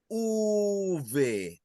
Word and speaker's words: uve: We have uve. Uve. Has anybody else encounter for the V a different way of saying it? Yes. Jennifer, How do you learn how to say the V? If I remember, it was a long time ago, but they. V, yeah, like V, V, yes. Ve. Anybody else? It sounds like a B.